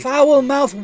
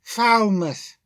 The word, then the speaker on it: Falmouth: Foul-mouthed Wharton did it. It's pronounced Falmouth.